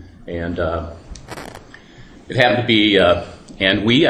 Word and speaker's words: Anhui: And it happened to be Anhui, I believe is how it's pronounced, province down in here, where the original PED virus came from.